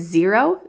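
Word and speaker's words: Xero: Another option is Zero. It's spelled X E R O.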